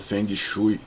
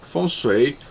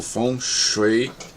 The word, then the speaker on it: Feng Shui: Geralmente falado por aí como o Feng Shui, mas Feng Shui ou Feng Shui em mandarim é que são as pronúncias mais adequadas.